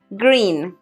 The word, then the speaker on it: green: Atención, no pronuncien la R tan fuerte como la pronunciamos en español y tampoco digan green, porque hay que extender un poquito más el sonido de la I.